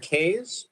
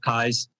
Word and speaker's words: Kays: is uh and this actually pronounced kai's but we won't quibble and i'm the president